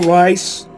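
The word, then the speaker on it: Reiss: The name is pronounced Rice, by the way, not Reese. The Crimson Lance got nothing on my weapons. Do you think Corporal Rice, not Corporal Reese, Corporal Rice, is the brother of Hank?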